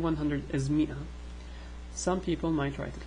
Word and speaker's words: مئة: this, pronounce it as ma'a or pronounce it as mi'a. There's a big history discussion about this, but anyways, forget about that. Just know that if you hear ma'a, it's the same as mi'a, okay?